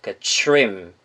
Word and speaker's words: trim: 약간 트림 이런 게 아니죠. trim, trim 이런 식으로 발음이 났고요.